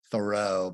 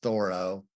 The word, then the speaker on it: Thoreau: Thoreau, many times mispronounced Thoreau, but it's Thoreau.